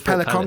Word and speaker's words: pelican: Crossing so pelic pelicon so it's pelicon Crossing is actually how it's properly pronounced but it's built from that portmanto and it sounds like another animal therefore Pelican so the next one